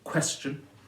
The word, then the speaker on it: question: The shun there, the word question is stressed on the first syllable, question, so the shun is